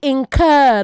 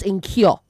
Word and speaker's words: incur: Say incur not incure. Incur. All right. To incur not to incure.